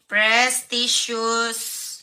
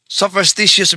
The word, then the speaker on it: superstitious: Ang tamang termino sa English sopstitious belief. Hindi po prestious belief.